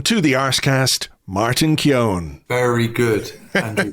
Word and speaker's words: Keown: pleasure to Welcome to the ARs cast Martin Keon very good Andrew pronunciation yes um you did well there Keon I've been called keone for years but um if you read the